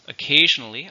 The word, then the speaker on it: occasional: How many syllables, occasional? 4. Stress on the second one.